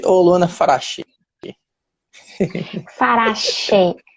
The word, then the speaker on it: Farache: O seu nome é Luana Farati ou Luana Farachi? Farache. O che é na pronúncia do italiano, seria o original, digamos assim, mas aqui no aportuguesado a gente fala che, farache. Farachi.